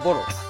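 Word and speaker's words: Bodo: But correct pronunciation would be Boro, like Angboro.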